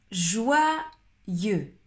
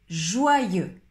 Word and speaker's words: joyeux: Joyeux, joyeux, joyeux. On ne prononce pas le X à la fin.